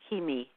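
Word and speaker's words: Cimi: you the card well the card was is Kimi and it's spelled c Mi but it's pronounced ke M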